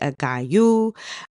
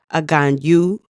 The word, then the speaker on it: Aganju: You may hear people say it Agayu, Agayu, Aganju, Aganju. You will hear his name